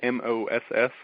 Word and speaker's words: mas: And is it M-O-S-S? Is that how you spell it? It's M-A-S. M-A-S, okay. Like Moss, like more in Spanish, but Moss is actually Russian for stick.